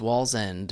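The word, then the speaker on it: Wallsend: no yeah so this is uh where is Wall's end in terms of uh where you where you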